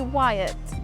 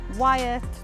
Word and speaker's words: Wyatt: Some people say it right and say Wyatt. So everyone, if you can say Wyatt, Hodge, please. Hodgie, Wyatt, Danni, that's fine.